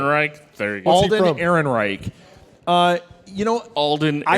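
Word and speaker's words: Ehrenreich: Aaron Wright Aaron Reich there you go Alden Aaron Reich uh you know Alden I haven't seen the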